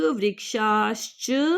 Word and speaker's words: वृक्षाश्च: वृक्षाश मूर्खाच नमंती कदाचन शच बोलना है इसको श और च है ना तो शच नहीं बोलना क्योंकि श आधा है तो इसको बोलना च शुष्क वृक्षाश्च मूर्खास तो अब इसको हम